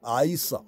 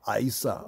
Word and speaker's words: Isa: get the names wrong Isa Isa Isa when you say it correctly it sound like Esau right but this is one